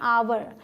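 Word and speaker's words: hour: किया इस तरीके से ये हा ओ यू आर हा है लेकिन हा साइलेंट होता है आप इसे क्या पढ़ने हैं अवर तो जो ध्वनि है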